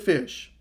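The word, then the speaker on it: Ghoti: how you pronounce this g-h-o-t-i you pronounce it fish don't you just love the english language yes so the new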